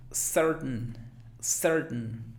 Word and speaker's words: certain: Alguien diría certain, pero no va como que tain, como que ese diptongo ain no suena, sino que simplemente certain. A final de cuentas, si no lo quieres hacer glotal, podría ser certain. Muy sutil. Certain. Pero la mayoría de los hablantes lo hacen glotal, así, certain.